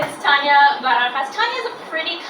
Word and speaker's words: Taña: my name that's R um my name is Tanya vas Tanya is a pretty common name around